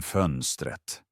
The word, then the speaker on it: fönstret: Han sa hela tiden fönstret. Han uttalade inte T-et i slutet, så det lät roligt. Och vad gjorde du? Jag sa vänligt genom väggen. T-et vill höras.